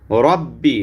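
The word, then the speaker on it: رب: আলিফ পরিমাণ টান দিবেন রব্বি রব্বি র মোটা করবেন ইয়াল ইয়ালের মধ্যে কোন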